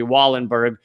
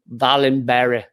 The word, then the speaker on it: Wallenberg: ralu uh raul uh and the americanized way of pronouncing it would be wallenberg center for human rights although i i know from someone swedish that it's like valenberry valenburg fallen bear uh center for human